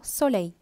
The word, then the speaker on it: soleil: Karasila vara L la neenga pronounce pannakura. And I L, Y polara sound pannam. Double L mai, so soleil.